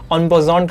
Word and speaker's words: en passant: This rule is known as एन पासेंट। ये एक French word है, इसलिए इसको आपने कहीं जगह ऑन पोजॉन करके भी सुना होगा, because its origin from French, जिसकी प्रोनाउंसिएशन थोड़ी सी अलग होती है।